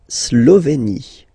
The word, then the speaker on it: Slovénie: La Slovénie. Remember, you get this E accent aigu here, it's E. Slovénie. Final E, as usual, not pronounced.